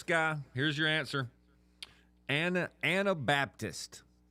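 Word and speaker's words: Anabaptist: Anna Baptist. Anna, not Anti, but Anna. No, Anna. Not Antibaptist. Okay. Anna Baptist.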